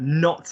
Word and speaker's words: nos: Yeah, like I am not coming, or a not.